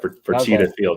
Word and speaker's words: Fertitta Field: That's right, Fertitta Field, yeah.